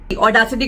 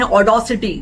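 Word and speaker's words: audacity: अब accent pronunciation भी वैसे कई बार गड़बड़ करते हैं, जैसे इफ आई एम not wrong ऑडासिटी को बोलते हैं ऑडोसिटी, जबकि वो ऑडासिटी है, ऑडोसिटी नहीं है।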